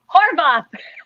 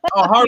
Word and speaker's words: Horvath: Horvath. Oh, Horvath. You got it. Oh, I practiced it so many times. It's easier than you think. Yes, Horvath. Nanciann Horvath. I was telling her you've been a Horvath, nurse.